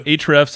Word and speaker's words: Ahrefs: So Ahrefs, it's spelled AHREFS.